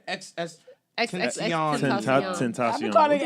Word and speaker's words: XXXTentacion: You said XXXTentacion. I've been calling it X-Temptation for like a year now.